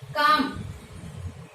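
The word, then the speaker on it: calm: इसके बाद में हम करें काम, तो काम वही सिंबल क्या, का एल है वो साइलेंट आएगा, मैं का सिंबल क्या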